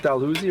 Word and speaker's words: Dalhousie: And are we making straight for Port Dalhousie or what?